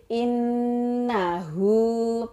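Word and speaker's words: إنّه: robbika wash tol Firma innahu laa nak kalau ada Nun tasydid in nah ujungnya itu ada tafsir bacaan ghunnah bacanya agak ditekan Inna Who in nahu karena tauwaba begitu enak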